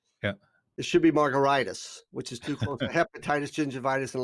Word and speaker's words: Margaritis: name is spelled m-a-r-g-a-r-i-t-i-s it's pronounced like a cocktail but it's spelled like an inflammation yeah it should be margaritas which is hepatitis gingivitis